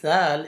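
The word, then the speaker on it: ذ: The next letter is zal, is pronounced from the same place, zal.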